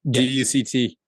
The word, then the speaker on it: duct: with ducks right yeah you pronounce it ducked duct tape tape yeah that t is somewhat silent because you hit the tape right so it's duct